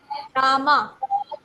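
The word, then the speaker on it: Rama: राम है ना बट जब हम उसको इंग्लिश में लिखते हैं तो हम आर ए एम राम नहीं लिखते ट आर ए एम ए रामा okay रामा इ न कर करट प्रशन बट इट राम okay so यहां पर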